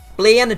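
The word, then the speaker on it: Blaine: Bla, just for any poets that may know, rhymes with pain, and I'm certainly feeling the pain when I get to his team.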